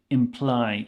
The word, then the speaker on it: imply: have the word imply imply it's a short word but the sound at the end is long imply and this is